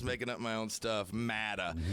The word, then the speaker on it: Matta: Matta. It's spelled M-A-T-T-A. I didn't want to say matter for some reason, and I made up Matta, and it fit the purpose too.